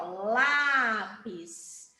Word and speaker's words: lápis: não falem aí lápis você abre mais a boca né lá lápis E aí Tá certo então eu já sei que essa palavra quando ela tem esse som aberto né então ela o